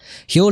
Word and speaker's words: Huel: to the next level meet hu today's sponsor hu is spelled hu L and is the complete global